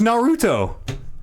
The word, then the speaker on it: Naruto: yeah I haven't watched Naruto and I just say it like I'm Japanese I guess I don't know put the emphasis on the middle syllable and I know these